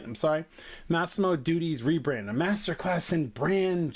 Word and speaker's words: Massimo Dutti: I don't know how to pronounce this brand. All right. I'm sorry. Massimo Dutti's rebrand, a masterclass in brand suicide.